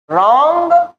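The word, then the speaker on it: wrong: knock में के silent रंग में डब्लू साइलेंट साइकोलॉजी में पी साइलेंट लेकिन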